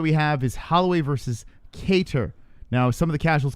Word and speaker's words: Kattar: corrected me and now i properly call him cater yeah okay there's a big moment in mind